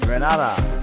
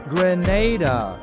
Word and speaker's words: Grenada: So today, like we German say, we are in Granada. But I heard in English it's called Grenada. Say it right. Grenada.